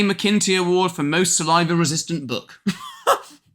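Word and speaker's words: McIntee: McIntyre. Is that how you pronounce his name? McKinty.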